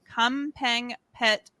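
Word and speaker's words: Kamphaeng Phet: nicknamed apple is a singer and actress from kampeng pet province thailand true or false true nice is that how you pronounce the province yes uh she has an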